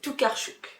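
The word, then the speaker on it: Tokarczuk: Oh là là, on m'a dit c'est Toucarch. Dolga Tarchuk. Et surtout quand je prononce mal le nom d'un auteur, n'hésitez pas dans les commentaires à me euh dire comment ça se prononce.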